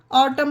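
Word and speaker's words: autumn: ध्यान रखनी है कि वर्ल्ड के लास्ट में एम के बाद एन हो तो वहां पर एन को साइलेंट करिएगा ओके ऑटम पढ़ा गया इसे उसी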